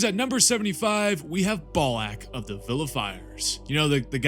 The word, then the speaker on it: Balak: Which means at number 75, we have Balak of the Vilifiers. You know, the guy whose name rhymes with ballsack.